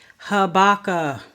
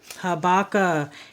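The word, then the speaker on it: Habakkuk: next book of the Bible I hear this mispronounced habaka habaka h a b a k k u k habaka the next book of the Bible Zephaniah z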